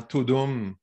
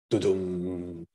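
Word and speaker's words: Tudum: excuse-moi, deux mots sur l'événement Todum de Netflix. Alors, Je excuse-moi, trouve ça Pascal, tu très le drôle. prononces pas mal, c'est Toudoum.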